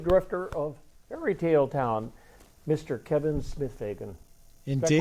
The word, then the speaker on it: Kevin Smith-Fagan: Kevin Smith-Fagan.